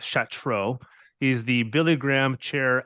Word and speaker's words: Chatraw: enough to tell us how it was actually pronounced it looks like chat tribe but it's Chateau he's the Billy Graham chair of evangelism I